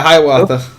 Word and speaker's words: Hiawatha: I didn't butcher the pronunciation. Yes, you did. Yeah, Hiawatha.